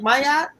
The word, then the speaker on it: Ma'at: So let's meet Nia and is it Maya?